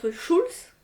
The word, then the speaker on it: Schulz: une nouvelle histoire alors l'invention perdu de m schulz tu prononces bien oui bon je voudrais pas écorcher